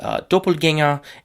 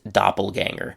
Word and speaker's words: Doppelgänger: So, the first word is German word Doppelgänger, and in English the pronunciation is doppelganger.